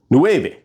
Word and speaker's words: nueve: Now it's N-U-E-V-E. Nueve. N-U-E-V-E. Nueve. Because like I said, in words, the letters would sound exactly like they do in the Spanish alphabet the majority of the time.